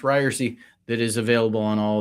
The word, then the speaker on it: Ryerse: as I said on my own podcast, it's pronounced Ryerse, that is available on all of these same places.